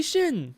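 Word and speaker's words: Xin: Like I know the main character's name is Shin, but it's spelled with an X I N, which in the the papers is X I N.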